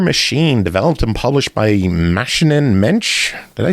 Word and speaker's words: Maschinen-Mensch: Next up, Mother Machine, developed and published by Maschinen-Mensch.